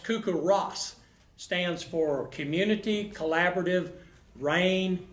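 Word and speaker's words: CoCoRaHS: did you say he knows better it's actually pronounced cuckoo Ross stands for community collaborative rain hail and snow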